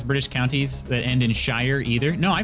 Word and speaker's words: Shire: me anything okay steph they lived in the shire they didn't live in the sheer okay frodo sam they're